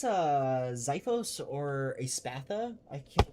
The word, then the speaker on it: Xiphos: A Xiphos, which is spelled with an X.